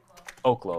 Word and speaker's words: Oklo: It's legally Oaklo. Oaklo. Yeah, Adara just corrected me. So, Oaklo if I say Ollo. It's named after a place I think in Africa which is pronounced Oaklo.